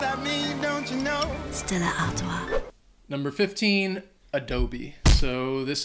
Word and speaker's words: Stella Artois: Number 14, Stella Artois. Or beer. You can just, yeah, it's pretty good. You can just say Stella, but I mean, I think it's pretty close to the actual French pronunciation.